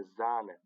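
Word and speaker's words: Sahne: په قوس کې مې هغه تلفظ ورسره لیکلی دی. زومر یعنې دوبی. زومر. صحیح؟ یا هم لکه زانه.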